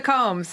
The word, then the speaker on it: Comes: thank you for coming i hope i pronounced your last name right yeah you did combs they're right that's right nailed it it's been said